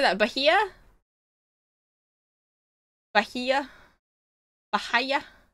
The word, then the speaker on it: Bahia: Lugar Bahia? Bahia? How do I say that? Bahia? Bahia? Bahia? Bahia? Silent Age. Bahia.